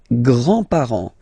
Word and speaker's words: grands-parents: Les grands-parents. Les grands-parents. Remember, you don't pronounce this final S here. Grands-parents, okay?